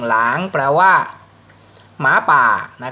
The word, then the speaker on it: 狼: ตัว นี้ ตัว อักษร ตัว นี้ อ่าน ว่า หลัง นะ ครับ เสียง ลอลิง หลาง แปล ว่า หมา ป่า